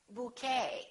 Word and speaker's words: bouquet: The silent T very frequently happens in words that are originally French. For example, the word ballet that has the ET ending, and in the French language, the T is almost always silent, so English speakers pronounce it the same way.